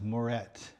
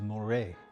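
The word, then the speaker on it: Muret: Now, back at the antique store, I called this Moret, and it's not Moret. Pronunciation is Morro.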